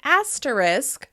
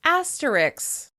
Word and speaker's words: asterisk: Similarly, some people may pronounce the word "asterisk" for this symbol right here, as "asteriks."